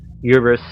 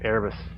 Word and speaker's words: Erebus: they conducted in the Uberus system. Sorry, correction. I think Erebus. I'm pronouncing that. Yes, thank you, Erebus. I was pronouncing that wrong.